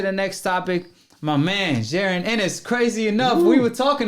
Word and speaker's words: Jaron Ennis: So it's actually Jaron Ennis.